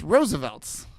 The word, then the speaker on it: Roosevelt's: It's Roosevelt's. Oh. Oh, I didn't even know that. Yeah, it's Roosevelt. It's spelled like results sort of, but it's like Roosevelts.